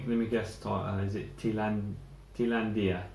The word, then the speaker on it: Thailandia: Is it Thailandia. Thailandia. Okay. Yeah, just read it. Yes, yeah. Thailandia, the way you pronounce it.